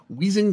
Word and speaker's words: Wendling: from there hey David you can just pronounce my last name as weing if that helps I'm so saying it wrong though aren't I it's dutch after all what's a guy got